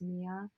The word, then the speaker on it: Mya: But anyway, you can find me at Mia _ on Instagram, which my name is spelled MYA, but it is Mia.